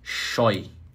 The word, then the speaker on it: scheu: Tá a pronúncia é choy.